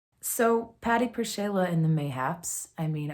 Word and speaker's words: PerShayla: I think it's actually PerShayla because the L has a slash through it in Polish. That makes a W sound.